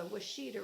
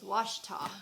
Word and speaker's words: Washita: It was Washita. In Oklahoma, we say Washita, but I guess in some states, there's a similar name somewhere else of a river, and they say it, Washita, spelled the same.